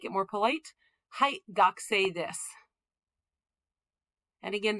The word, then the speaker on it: desu: Hai, gakusei desu. And again, that u on the end of desu, that's a voiceless vowel. Don't pronounce that u.